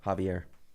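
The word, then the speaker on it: Xavier: Spelled with an X. Where in the name? Instead of a J, it's an X. Whoa. Yeah, Javier.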